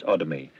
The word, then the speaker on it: Odomy: Gann, spelt with two N's, and the struggling Nigerian author S. Odomy, with the emphasis on the O.